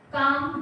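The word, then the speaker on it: calm: ठीक है now next काम down L silent रहता है जब एम से पहले एल आ जाता है तो वहां एल साइलेंट हो जाता है ठीक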